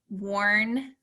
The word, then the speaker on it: Warndorf: But it's exactly how it's spelled, Warndorf. Warndorf. It sounds very Lord of the Rings.